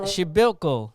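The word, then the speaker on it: Przybyłko: Forward, Casper Shibilko.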